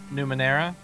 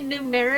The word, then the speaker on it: Numenera: say i could never numenera yes that would yep i've been saying it numero in my head and i actually looked at how it spelled it was like crap i've been saying it wrong we uh i ran